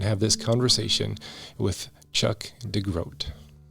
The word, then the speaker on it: DeGroat: in this part of the world spell their last name DeGroot, and and so I think it was actually changed back in the day to OAT because that's really how it's supposed to be pronounced.